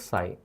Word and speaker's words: psi: It is pronounced as psi.